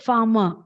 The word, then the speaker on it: farmer: But when you pronounce it, it is just farmer. We don't say it as farmer. R is not said.